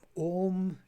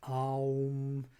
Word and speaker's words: Om: Well, Om is Om. It's how we pronounce it in the Veda, but Aum, how we pronounce it is in Tantra.